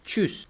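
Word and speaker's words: Tschüss: Halo haló haló adiós Es como cuando estornudas nada más que sin el a sin el achu nada más el chus chus literalmente es un sonido ligero de T y luego chus Esto hace pues prácticamente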